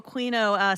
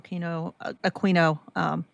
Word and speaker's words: Aquino: And what can you tell us about Michael Aquino, Quacks? In a nutshell, I guess, is what I'm asking. I believe it's pronounced Aquino, but Aquino, so I was saying it right?